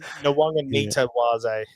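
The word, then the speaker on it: Nawaqanitawase: I was saying it wrong the other day, but I know where I was messing it up. So it's Mark Nawanga Nitawase.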